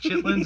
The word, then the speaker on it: chitlins: Chitterlings, but it was different, not chitlins. It was chitterlings. It's chitlins. You're saying it wrong, first of all.